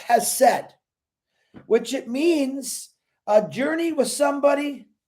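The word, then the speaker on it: חסד: It's pronounced hesed, which it means a journey with somebody.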